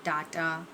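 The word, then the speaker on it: data: कई लोग बोलते हैं डेटा कई लोग बोलते हैं डाटा सही प्रोनाउंसिएशन है डेटा ओके सो डेटा ही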